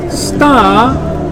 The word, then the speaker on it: started: It now becomes two syllables, and you really need to say tid.